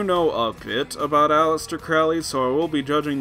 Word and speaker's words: Crowley: This is Crowley. Or Crowley. They pronounce it both ways in the movie, but, you know, Ozzy calls him Crowley, so I'll stick with Crowley.